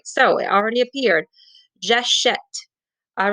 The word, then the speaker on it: j'achète: J'achète. So you hear the eh? Well, in order to make that eh sound, we needed to add the accent grave.